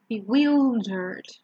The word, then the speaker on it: bewildered: Here, remember it's not wild, it's willed, bewildered.